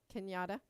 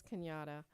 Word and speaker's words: Kenyatta: lot and it's um i don't know if you guys pronounce it kenyatta or canada kenyatta huh kenyatta okay yeah so that's kenyatta um and that mirrors